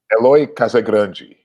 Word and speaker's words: Eloy Casagrande: How do you pronounce his name? Eloy? Eloy Casagrande.